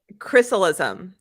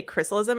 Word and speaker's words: Chrysalism: Chrysalism. And Yes. I know what you're saying about the pronunciation. It's actually not that hard to say chrysalism. It's the way it's spelled. I'm like, chrysalism.